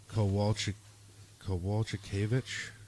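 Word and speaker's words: Kowalkiewicz: Jessica Andrade versus Carolina Kowalczykiewicz. Yes, that's how you pronounce it.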